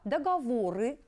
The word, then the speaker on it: договоры: обратить внимание на слова договоры выделена буква а в данном слове ударение падает на неё на эту букву вспоминаем с вами и